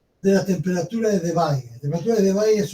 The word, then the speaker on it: Debye: Estuvo el modelo de Debye, o de Debye, como de Belle, como dicen algunos por ahí en YouTube. En realidad se pronuncia Debye.